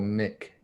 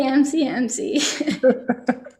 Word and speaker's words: MCMC: Andrew wants to know, should MCMC be pronounced MCMC or MIC? Definitely MCMC. Never heard the Mic pronunciation.